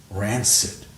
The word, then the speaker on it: rancid: refuse now that's all noun adjective hard C soft SE ranor rancid wow you see I